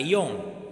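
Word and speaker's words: 四時: Kemudian untuk 4 itu kan ada si, ada yong. Nah, untuk jam sendiri penyebutannya pakai apa? Pakai yo, bukan yong, bukan si, tapi pakai yo.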